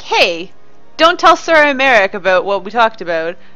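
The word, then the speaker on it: Aymeric: Although, I guess they pronounce it Imeric more than Imeric. Apparently I pronounce the Y too much. Imeric?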